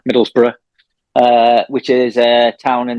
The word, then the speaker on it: Middlesbrough: Yeah, I am from a place called Middlesbrough, I don't say it like that, Middlesbrough, which is a town in the northeast of England.